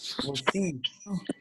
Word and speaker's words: merci: Thank you is merci. Thank you. Merci. Merci. Merci. Merci. So it's kind of like mercy, but a little twang to Merci. it. Let's see. Merci. Merci. Good. Let's see. See. Merci.